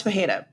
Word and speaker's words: Pereira: Pereira Pereira Pereira Pera he's Brazilian so the Brazilian way to pronounce that is p Alex paja I'll accept any of those because all of that makes sense to me Alex Pereira Alex perea Alex paja CH sunon would not